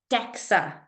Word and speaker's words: DEXA: has how spell it dexa not hexa dexa scans yes but they